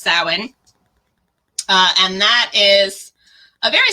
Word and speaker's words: Samhain: they're spelled right so it looks like it'd be pronounced one way in english but it's totally not um so it's pronounced samhain and that is a